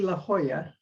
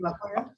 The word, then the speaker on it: La Jolla: That would be La Jolla. Okay, see? La Jolla.